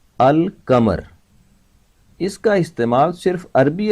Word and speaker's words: القمر: حروف قمری کہتے ہیں، کیونکہ قمر پر جب الف لام لگائیں گے تو لام کی آواز ظاہر کی جائے گی۔ القمر اس کا استعمال صرف